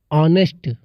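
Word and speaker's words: honest: देख लेते हैं सती यहां पर ओ से पहले आया हुआ ह साइलेंट रहता है जैसे अब क्या दिया है ओनर ओनर ऑनेस्ट ऑनेस्ट अवर एक इस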